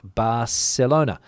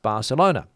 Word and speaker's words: Barcelona: They pronounce the C as a C, like Barcelona. And also in Catalan, I believe Barcelona is pronounced Barcelona. But in Castilian Spanish, spoken in the majority of Spain, let's say, for example, Andalusia up, it is pronounced as a th.